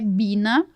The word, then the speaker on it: Biene: E onde fala que na verdade a pronúncia é bina, que é a abelha em alemão.